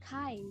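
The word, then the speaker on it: χ: yang pertama ada yang kayak huruf x itu dibacanya Hai jadi nanti kita mencari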